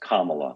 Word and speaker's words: Kamala: It's pronounced Kamala, like Kamala.